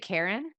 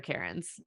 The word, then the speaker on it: Keryn: to meet you okay just to clarify do we say it Karen it's Karen just like but not Karen but not like that yeah not that Karen thank God your name